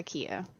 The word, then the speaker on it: Killa: Okay, so the way it's pronounced is kind of like, you know how tortilla is? Yeah. It's Spanish word, so you pronounce it without the L's. So, technically the way you would pronounce it is KIA. It's Kia. Uh-huh. So the L's are silent.